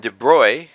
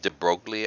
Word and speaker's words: de Broglie: you can get diffraction patterns from them and de bruy louis de bruy a french scientist had this